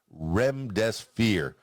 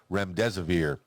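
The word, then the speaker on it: remdesivir: of the antiviral medicine REM death-sphere REM disappear I know I've been mispronouncing that over the last couple of weeks since I heard about it REM des aveer ANCOVA 19 patients said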